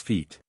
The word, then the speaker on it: Fjort: stood he wrote fote the pronunciation of the word would I am informed be more closely represented in ordinary English spelling is feet e Sydney Hartland haar